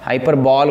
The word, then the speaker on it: hyperbole: अगर हम ऐसे लिखते हैं तो नॉर्मली हमें लगेगा कि ये हाइपरबॉल है, हाइपरबॉल बोलेंगे. पर बॉल हमें पता होना चाहिए कि अगर हम बॉल बोलते हैं तो उसकी मतलब राइटिंग में हम कैसे लिखेंगे, BALL। तो ये बॉल नहीं है, ये हाइपरबॉली है। इसकी प्रोनाउंसिएशन कैसे होगी, हाइपरबॉली।